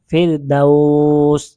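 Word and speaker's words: فردوس: এখানে দেখেন ফিরদাউস, ফিরদাউস, এরকম উচ্চারণ হবে।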